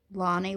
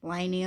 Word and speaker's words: Lani: Like, some of you might call me Lani, which is how I pronounce it in Australia, but like in other countries, you may like call me Lainey or something.